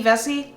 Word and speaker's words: Vesey: Vesey? Hottie! Yeah. Hottie! It rhymes. Vesey.